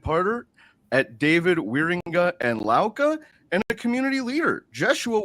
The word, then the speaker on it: Lauka: luk entertainment today we are joined by josua laa who is a legal and boardroom adviser a dedicated partner at David wearinga and laa and a community leader Joshua welcome to the